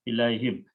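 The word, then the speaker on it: إليهم: But when you this time write down these together, and this is written as a ya, ilay, and to pronounce correctly, we change this ilayhim.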